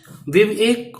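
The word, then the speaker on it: bivouac: इन द विवेक of life, विवेक है इसका pronunciation, दोबारा देख लेना।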